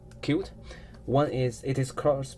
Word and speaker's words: Qt: GUI development framework uh it can pronounce q or c and there are two reasons that we choose uh cute one is it is